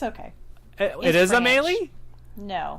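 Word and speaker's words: Amélie: Amelie? Oh. Crap, I said it wrong. Just by that laugh, I said Got it it. wrong. It's Amelie. It's okay. It is French. Amelie? No. Amelie.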